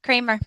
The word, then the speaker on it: Kramer: Did I say it right, the last name? Or Yep, Kramer. Yep. Kramer, okay.